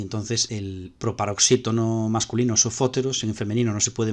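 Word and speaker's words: σοφώτερος: Ahora olvídate de pensar que sofos y sofóteros, sofos es oxítono y sofóteros es proparoxítono, no tiene que ver. Lo que estamos diciendo es que el acento se conserva en la misma sílaba, en sofos y en sofóteros.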